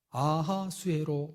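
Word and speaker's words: 아하수에로: 있습니다 여러분이 왕이 누구냐면 그 유명한 에스더의 남편 히브리식 발음으로 아하 수혜로 왕입니다 잘 알고 계시지요 학계서의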